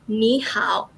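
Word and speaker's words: 你好: hello for example um in cantonese it is um nae ho but in mandarin it is nihao so cantonese nejo venom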